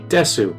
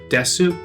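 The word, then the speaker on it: です: So the normal one would be des instead of desu.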